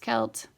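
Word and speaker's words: Celt: same as Arc kelt is a Gaelic word pronounced kelt and Mike is the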